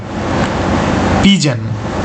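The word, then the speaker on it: pigeon: আবার সেই কি উচ্চারণ হবে পিজিয়ান হবে কি পিজন ঠিক আছে পিজান উচ্চারণ হবে মানে কি পায়রা আচ্ছা তারপরে দেখো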